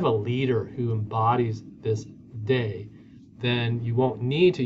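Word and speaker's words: 德: The next word is de, or I think it's pronounced da, which means moral force or attraction.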